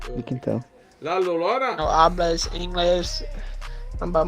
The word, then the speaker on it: La Llorona: How do you pronounce it? It's a Spanish. La Llorona. Yeah, I think that's part of it now too. Oh, La Llorona!